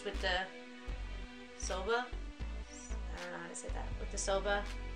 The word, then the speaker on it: Soba: say this so soba s.o.b a soba like soda but with Abby I